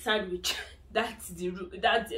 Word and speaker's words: Sandwich: You don't say Sandwich. I don't even know what that would sound like, but you actually pronounce the W there. You say Sandwich, okay?